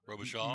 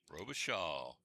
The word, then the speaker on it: Robichaud: Robichaud. Massachusetts, yep. Robichaud. I got to Yes, write that sir. down. Robichaud. Robichaud. S-H-A-W phonetically? Mm-hmm.